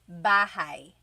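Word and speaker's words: bahay: You might notice that the spelling is a y at the end. So it looks like bahi, but it's pronounced bahi. That a y combination is bahai.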